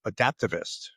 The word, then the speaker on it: Adaptavist: a study uh from digital transformation consultancy called adaptivist. Did I pronounce that correct Neil?